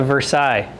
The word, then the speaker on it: Versailles: It's a Versailles. Silent S on the end.